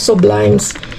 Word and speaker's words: Sublimes: Sublimes. Sublimes sublimes kasi ang ano bigkas dito sa Espanyol kaya sublimes ang pagkasabi ko.